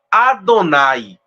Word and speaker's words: Adonai: é por isso que no judaísmo se pronuncia Adonai Adonai ou rashim como eu